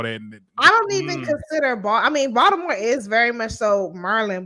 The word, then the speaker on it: Baltimore: Baltimore people pronounce Baltimore as if there's a D instead of a T there. But Baltimore is not.